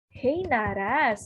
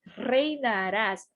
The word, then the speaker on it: reinarás: Você tem que, ó, prestar atenção na pronúncia do R. Reinarás. Esse R sozinho aqui no meio da palavra, ele tem o mesmo som do português.